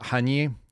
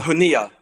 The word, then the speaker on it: Haniyeh: The gentleman that was, or the individual that was killed in Tehran was a guy named Ismail Haniyeh. Does that sound right? Am I saying it correctly? Haniyeh.